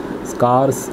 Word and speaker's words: scarce: नहीं ले सकते हैं, स्कार्स वेरी स्कार्स, ठीक है, ये SCARCE स्कार्स है, कभी कभी होता है प्रोनाउंसिएशन में स्कार, यानी कि SCAR वाला स्कार नहीं, तो दुर्लभ तो श्रेणी